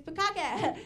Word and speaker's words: bukkake: It's bukkake. It's the short vowel, right?